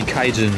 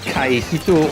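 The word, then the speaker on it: 海人: Most of the time, if one half of the kanji is onyomi, the other one is as well. Like if the first, if you pronounce the first kanji kai, then it has to be kaijin, right? And not kai hito or kai nin or something like that.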